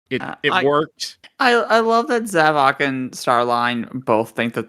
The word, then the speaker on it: Zavok: Zaxxon, in my opinion, does not because we literally smarter. Just said his name. I said it wrong, didn't I? Zavok.